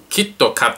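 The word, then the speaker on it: キットカット: น่ะ เหรอ เพราะ ว่า คำ ว่า Kid Cat ภาษา ญี่ปุ่น เขา จะ ออก เสียง ว่า kitto cat สึ คำ ว่า คิต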